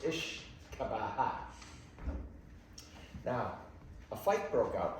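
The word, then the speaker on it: uisce beatha: The Gaelic translation of whiskey means water of life. It's pronounced Ishkabaha.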